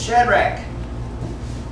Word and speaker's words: Shadrach: is shadrach it's actually the ch is pronounced like a k so it's shadrach you want to go